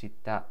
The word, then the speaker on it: 下: Is that how you pronounce it? Shita. I want to see how that's pronounced, or how that's written, rather. Down. Shita. Shita. So that's more like shita.